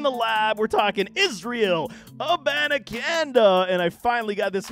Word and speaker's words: Abanikanda: will be a newy let me help you out man I had to solicit some help aananda aananda you're welcome here